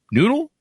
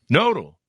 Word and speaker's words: Nodle: He is recently renowned for being a core part of an innovation team to build noodle? Is it noodle or noodle? Nodal.